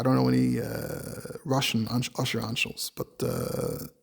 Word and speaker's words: Anshel: So when his name is Anshel, they pronounce it Antshel.